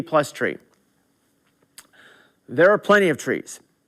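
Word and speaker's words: trie: invented the TR IE again to confuse you even more is pronounced tree so this is the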